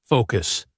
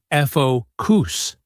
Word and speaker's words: focus: The mistake is often putting the stress on the wrong syllable, like focus. The stress is on the first syllable and the o has a long o sound.